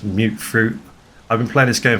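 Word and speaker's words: mutfruit: been calling these plants mut fruit but it's actually pronounced as mute fruit I've been playing this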